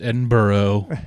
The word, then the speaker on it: Edinburgh: I know it's Edinburgh, but it's spelled Berg, and it annoys me.